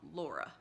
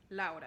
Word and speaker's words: Laura: I do know some people say it more like Laura. There's like a slightly, you almost say it like L-O-R-A, at least in English, and most people call you that, right?